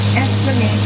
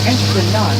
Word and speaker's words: Esplanade: There are two ways to pronounce it: Esplanade that rhymes with lemonade, or Esplanade that rhymes with facade.